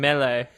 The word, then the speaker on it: melee: It's melee. But there's two E's at the end. Yeah, it's a French word.